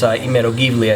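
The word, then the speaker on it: Imerovigli: It's Imerogivli, I think is how you pronounce it.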